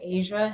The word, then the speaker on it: Aja: Hi, I'm Asia, and it's pronounced like the continent, but it's not spelled that way.